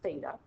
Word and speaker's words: theta: big circle with a line through it it's pronounced theta they relate the angles of the triangle to